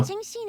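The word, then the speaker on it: Qingxin: I mispronounced it though. Qingshin is the right answer.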